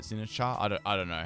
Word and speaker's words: Sinistcha: It's Sinistcha. I think that's how it is, because I know it's like Matcha, but Sinistcha.